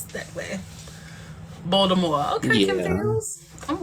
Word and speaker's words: Baltimore: from I'm from Baltimore oh from who balmore oh that's a new pronunciation I've never heard it said let's uh pronounce that way Baltimore okay I'm right we